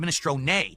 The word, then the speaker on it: minestrone: Ministron. Oh god, it's min. But in American or English, you pronounce it min. It's a silent e just like provolone.